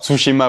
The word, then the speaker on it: Tsushima: est marquée par la défaite navale russe de Tsushima. Alors je ne sais pas si je prononce bien face aux Japonais. Tsushima. Tsushima, oui, pardon.